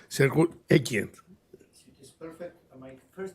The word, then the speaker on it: Grzegorz Ekiert: And of course, special thanks to Director, Professor, I'm not sure about my good pronunciation, Sergio Ekian.